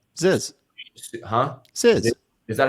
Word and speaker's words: Zyzz: Ziz. Huh? Ziz. Is that how you pronounce that?